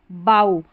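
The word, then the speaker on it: bough: जैसे यहां पर देखें ओ यू के बाद में जी एच है। तो यहां पर इसको प्रोनाउंस किया बाऊ तो ये जी एच को प्रोनाउंस नहीं किया है। यानी जी एच का उच्चारण नहीं हुआ। साइलेंट हुआ। ओ यू के बाद में है। इसलिए यहां देखिए प्लाऊ यह है। यहां पर ओ यू के बाद में जी एच है। क्या है? जी एच यहां पर साइलेंट है।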